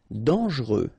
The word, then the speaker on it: dangereux: Dangereux. Final X not pronounced, and then don't really pronounce this E here.